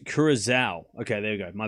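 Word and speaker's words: Curaçao: It's pronounced Curacao.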